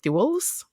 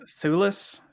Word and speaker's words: Thewlis: And then we have, you're going to have to help me with the pronunciation of this one, David Thewlis? Thewlis? I would go with Thulis.